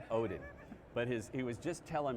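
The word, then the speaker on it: Odden: It's O-D-D-E-N. The second D is silent. It's Odin.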